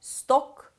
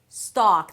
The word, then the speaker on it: stock: It is not "stohk". It is not "estohk". It's "staak". Stock. The 'stock' is the primary stress so it's going to be longer and higher in pitch. Stock.